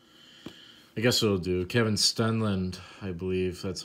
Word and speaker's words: Stenlund: Kevin Stenlund, I believe that's how you pronounce it. Yeah, Stenlund.